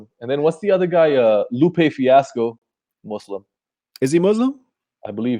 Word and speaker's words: Muslim: jihad yeah so it's just the way Americans pronounce things so when they say they're supposed to be saying Muslim yeah and so like here's them sometimes they'll